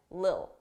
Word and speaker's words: little: A little, little. Native speakers, we don't pronounce T's between 2 vowels. It will be either a very soft D, little, little, dull, or you just won't hear it, lil, lil. A little, a little. And notice the is connected to it. A lil, a lil, a little.